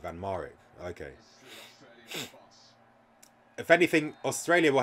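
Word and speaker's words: van Marwijk: already in this stream fan Marek that's the that's how you pronounce it van mourik okay if anything Australia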